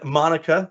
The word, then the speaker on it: Monica: And of course, we have Becky Keene, the queen, and Sean, the sheep, and Monica, like harmonica, and of course, my friend Jaritza, like barista.